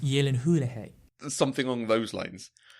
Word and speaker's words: Gyllenhaal: right it's actually Hulihee Lebanon is it pronounced Gyllenhaal yeah Gyllenhaal it's pronounced Yi Lin who - hey there's something on those lines there's the person